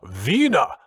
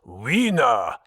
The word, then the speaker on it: Wiener: broader than most doorways my name is pronounced vena not wiener growled towering above edwards